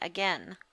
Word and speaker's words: again: Remember, we're pronouncing it A-G-E-N, again.